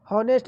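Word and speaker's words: honest: Option number B कैसे हो जाएगा, कि देखिए आपका उसी प्रकार हॉनेस्ट में आपका एच का उच्चारण नहीं होता है क्या, तो हॉनेस्ट में जो होता है आपका एच का उच्चारण नहीं होता है।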